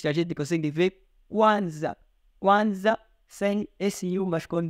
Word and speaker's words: Kwanzaa: E nós vimos que Kwanzaa, nós pronunciamos Kwanzaa não com a letra U, mas com W.